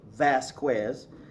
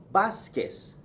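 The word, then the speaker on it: Vásquez: a B sound okay for example my name is not Vasquez okay many people pronounce it that way Vasquez but that's an English mispronunciation it's actually Vasquez bus yes VA s is bus because the V gives you a B sound bass case okay next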